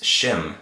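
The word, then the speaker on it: שֵׁם: is a word and that word it is shim shim and we say that so mr.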